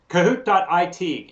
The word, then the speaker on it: Kahoot: So Go to Kahoot.it, and Kahoot is spelled with a K, K-A, and then hoot, like an owl hoots.